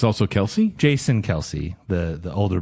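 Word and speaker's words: Kelce: Tik Tok three months ago Debbie that everyone pronounces Kelsey last name incorrectly because the dad got tired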